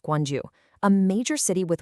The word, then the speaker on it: Gwangju: What's just wild is that this biodiversity hot spot is thriving right on the edge of Guangju. That's pronounced Guanju, a major city with 1 and a half million people.